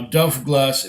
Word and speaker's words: Dubh Glas: like that yeah now delft glass is still Dubh GLA s yeah as you know bh is pronounced in scots gaelic with a V like a look so Buddha how vain